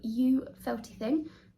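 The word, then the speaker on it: Ewe Felty Thing: It's a shop in London now, and they are called You Felty Thing. The U spelled like E-W-E, like a sheep.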